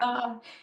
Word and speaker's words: Arata: Victoria is the author of 9 novels for adults and young adults, including The Land of, is it Orata or Erida? How do you Arata, pronounce Arata? Arata.